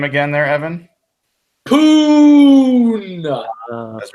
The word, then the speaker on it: Poona: Poon. That's right. Poona Ford, 89.6 rating by Pro Football Focus.